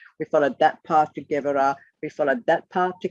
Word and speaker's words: Gevurah: This circle is pronounced Gevurah, but is spelled G-E-B-U-R-A-H. But a B in the middle of the word is pronounced V. So it's Gevurah, Gevurah.